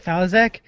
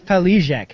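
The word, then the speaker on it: Faliszek: the first two so C how do you pronounce his name Chad fek CAD fich no fek Chet felek thank you I'm terrible about names Chet felek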